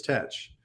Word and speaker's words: Teach: been pronounced as touch so both teach and thatch were both pronounced the same way as touch the other pronunciation that